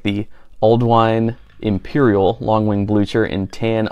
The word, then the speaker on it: Ealdwine: Stones as well so a little bit about alwine Raleigh we named our store Al wine as an homage to Alden ald wine pronounced Al wine is an Old English name